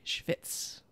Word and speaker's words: schvitz: For those who have never heard that word, it is Yiddish for sweat. It is spelled SCHVITZ. Schwitz.